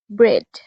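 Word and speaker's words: bread: এছাড়াও কোন শব্দে যদি ই এর পর এই থাকে সেক্ষেত্রে এ সাইলেন্ট হয়। For example ব্রেড।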